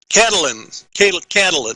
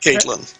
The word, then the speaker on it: Catalin: Catalin, not Caitlin. Catlin? Catalin. Catalin? 3 syllables.